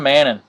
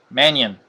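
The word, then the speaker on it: Mannion: our next Auto Sean mannon Manion excuse me forgot the eye there orange Alshon Jeffrey out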